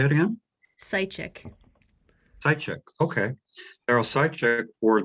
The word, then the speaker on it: Seitchik: And tonight we're here with Daryl, whose last name I'm afraid to mispronounce. Seitchik. Um, Say it again? Seitchik.